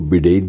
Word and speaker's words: बाइडेन: के बाइडेन जो हैं, कुछ लोग उनको बिडेन भी कहते हैं, कुछ लोग बाइडेन, दोनों उच्चारण चलते हैं, बाइडेन सही उच्चारण माना जाता है, कि 77 साल की